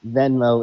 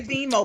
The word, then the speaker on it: Venmo: Venmo is the correct way to say it. I say Vimo because they don't they don't they don't like that.